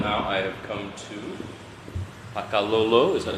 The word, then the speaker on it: Pakalolo: all right well now I have come to pakao is that how you would pronounce it yeah Paka pakao it means uh